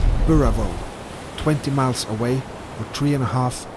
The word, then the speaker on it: Burravoe: It's hard to pronounce. Burravoe, they call it here.